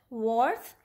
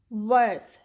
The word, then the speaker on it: worth: the next word is earth warf but we say it worth okay either worth or